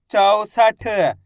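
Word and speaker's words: चौसठ: 64 ऐसे नहीं पढ़ना है। 64 64 पढ़ दोगे तो ओ की मात्रा का उच्चारण निकल जाएगा। औ करके उच्चारण निकालना है।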